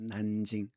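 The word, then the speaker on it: 南京: 우리는 남경이라고 하지만 중국 발음은 난징입니다. 난징.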